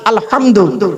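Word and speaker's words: الحمد: পড়ি আলহামদুলিল্লাহি রাব্বিল আলামিন আলহামদু বাপেরা ভালো করে উচ্চারণ করে নিন মুরুব্বরা আলহামদু আলহামদু গলার তর থেকে উচ্চারণ করবেন আলহামদু আলহামদুলিল্লাহ মানে হচ্ছে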